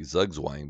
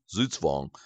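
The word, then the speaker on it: Zugzwang: A lot of people say zugwang, but that's actually incorrect. The the word is German in origination. And the correct pronunciation of the word is zutzvong, which literally means move compulsion.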